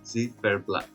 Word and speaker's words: Ziferblat: Ziferblat. I had previously reacted to all of the songs that competed at Vidbir 2025, and if you've seen this reaction, you know very well that Ziferblat were one of my favorites to represent Ukraine,